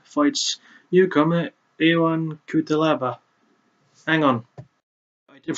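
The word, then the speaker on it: Ion Cuțelaba: For our next match, we continue the trend as Misha Serkinov, sorry, I almost messed up his name, fights newcomer Ion Kutelaba. Hang on. I did pronounce his name right.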